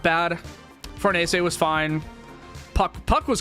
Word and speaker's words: Farnese: I thought it was pronounced Farnese. Nope. It is Fornese or something very close to that. I I thought I thought it was Farness when I was reading the manga, but if